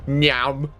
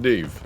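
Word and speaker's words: Niamh: My partner's niece is called Neve, which most of you will, you know, if Neve was in this game, then she'd be called Nyam. But no, it's pronounced Neve.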